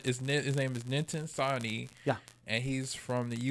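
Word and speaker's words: Nitin Sawhney: I've been saying his name wrong for so long, and I feel so bad. His name is Ninten Sani.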